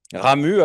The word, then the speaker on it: Ramuz: Et on ne prononce pas le Z final, hein, puisque curieusement, ici, on a tendance à dire Ramuse.